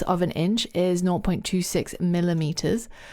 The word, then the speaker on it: em: em and the r m what are these units well the EM is actually not pronounced em it's pronounced M so it's pronounced in the same way that this letter is in the alphabet why is that well